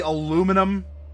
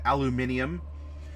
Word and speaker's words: aluminum: it's lightweight, but or it'd be like the aluminum, or depending on your pronunciation, aluminium.